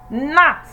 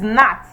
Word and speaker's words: gnat: word is pronounced as not because the first letter there is silent so it's not gnat it is not the second word the